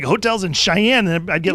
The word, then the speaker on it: Cheyenne: saying what is it Cheyenne Cheyenne is that I used to pronounce that I believe so X I - a in Cheyenne I think why don't they spell with an SH cuz that would make